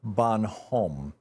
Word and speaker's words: Bonhomme: I rarely enjoy, and it's by Edna Bonhomme, B-O-N-H-O-M-M-E. I believe that's how it's pronounced.